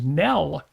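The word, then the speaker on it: Nelle: It was Nell, but N E L L E.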